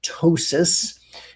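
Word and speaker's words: ptosis: We call it tosis. And you spell that, it starts with a P. The P is silent. P T O S I S. Tossis.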